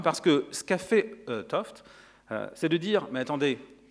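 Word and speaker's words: 't Hooft: une interaction fondamentale Gerard toft alors attention jeune c'est ça s'écrit t ouf mais ça se lit oft euh voilà il est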